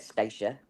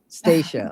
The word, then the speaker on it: Stacia: It's Staca. So, like Anastasia, but not Fastasia. Stacia. Stacia.